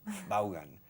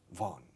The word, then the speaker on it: Vaughan: In the English-speaking countries, there's only 1. In Spain, there are 2. Vaughan. But in English, Vaughan.